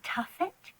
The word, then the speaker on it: tuffet: on this tuffet that's called a tuffet it rhymes with my name yes a nice slow